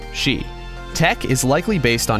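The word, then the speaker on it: 死: 4 is considered unlucky the Japanese number for forests pronounced sheet and it sounds similar to the word death which is also pronounced Shi Tech is likely based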